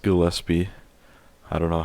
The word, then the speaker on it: Gillespie: to apologize because I I've been saying Dahlia gillespi but it is pronounced Gillespie I don't know how